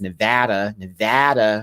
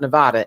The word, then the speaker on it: Nevada: over here in Las Vegas, Nevada. That's how you say it, not Nevada, Nevada.